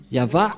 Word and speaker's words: Yahvah: de cette langue hébreu voilà donc le terme yava yava et on va voir comment on prononce cette parole yava ilshama yavashmo et nous allons voir s sens